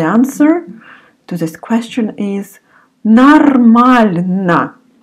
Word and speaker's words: нормально: And the answer to this question is нормально. It's written нормально. You remember that often Russian pronounce О like А. So you say twice here, instead of О, you pronounce А. Нормально.